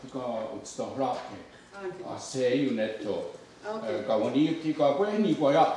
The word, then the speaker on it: Kawennenhas: Kawennenhas.